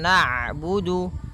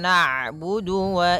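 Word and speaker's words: نعبد: harakat iaka iaka naudu kemudian ada huruf Ain yang berharakat sukun ketika huruf Ain berharakat sukun Ain itu punya punya sifat namanya bainah yaitu bacaan di antara syiddah dan Rah kalauidah suaranya tertahan kalau rak suaranya mengalir maka di antara keduanya I naudu iyaka kembali lagi Wa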